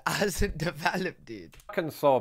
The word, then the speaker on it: Arkansas: Arkansas, pronounced Arkansas, not Arkansas.